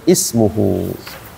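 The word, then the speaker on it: ٱسْمُهُۥ: baca yati ba'dmuhu ahmad tapi kalau kita pisahkan maka dibacanya ismuhu pokoknya ee nama ism aja ismuhu di awal kalimat sih yang tengah-tengah.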